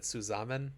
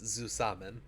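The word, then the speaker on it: zusammen: have pronounced dusaman backwards I think I might have said suzaman it's zusaman let's see oh I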